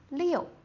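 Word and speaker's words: 六: Liu. Liu. It's the fourth tone.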